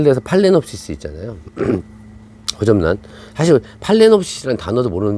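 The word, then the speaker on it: Phalaenopsis: 사실 팔레놉시스라는 단어도 모르는 분 많아요. 그렇잖아요. 그건 호접란인데, 그거를 저희는 페일레놉시스라고, 표기는 페일레놉시스인데 발음하면 팔레놉시스 두 개 다 같아요.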